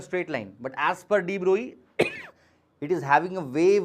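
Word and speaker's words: de Broglie: Indians call him Drogley but his correct pronunciation is Droy.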